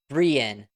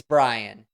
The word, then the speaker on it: Brian: when they go to the pronunciation Brien which is how they pronounced my name at the graduation it's Brian it's one of the most common names out there just think of Ryan with a b boy am I glad